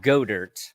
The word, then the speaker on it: Goedert: It's Goddard. But no. you like Goddard, and I made a Spaceballs. Yeah, joke. it's actually pronounced Godert.